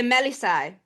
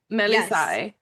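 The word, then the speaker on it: Melissae: of in my life being called by the Melis. Am I Oh yeah. Am I pronouncing it? Oh my god. The Melisai. Melisai. Thank you.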